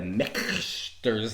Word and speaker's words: Michter's: us today we have the mexter's lineup perfectly pronounced by the way that's how you say it yep um we have